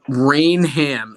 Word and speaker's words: Rainham: Rainham is correct. That's what the locals taught me. Just I got embarrassed at a bar. I'm not doing it anymore. It's Rainham. I'm pretty sure you put the So emphasis on the wrong syllable.